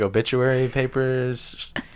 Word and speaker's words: obituary: I used to refuse to say that word because I couldn't say it correctly, and I really, really enunciated the bitch part, but I didn't mean to. Like, Obituary. yeah, like I'd put the CH even though it's not there.